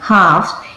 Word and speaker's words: halves: अब मैंने देखो यहाँ पे एल दिख रहा है, यहाँ पे स्पेलिंग क्या है, HALVES, लेकिन मैं इसे क्या पढ़ रही हूँ, हाफ। क्या पे एल आ रहा है इसमें साउंड में, एल नहीं आ रहा है।